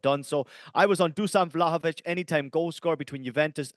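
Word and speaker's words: Dušan Vlahović: comments to say Ian it is not Duan it is Duan vlahovich thank you so much and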